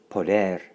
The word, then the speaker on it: poder: and all means all poder poder poder excellent pronunciation little trill on the end of poder and poder means they